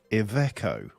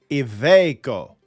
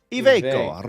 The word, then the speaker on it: Iveco: We used to call them Iveco when I was a boy, but now they're Iveco. Iveco.